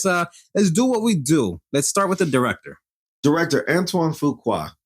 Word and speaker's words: Antoine Fuqua: Director Antoine Fuqua, right? Is he French? I don't know. Fuqua. Yeah, that's his name. Or what if it's Antoine Fock?